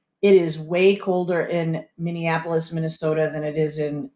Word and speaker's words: Minneapolis: to say minneapolis so let's practice saying it minneapolis minneapolis minneapolis minneapolis minnesota so minneapolis is the